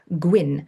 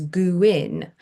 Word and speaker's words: Gwyn: He doesn't like to be called Gwyn because he says everyone pronounces it wrong and his name is Guin. Um because the W is an ooh sound in Welsh.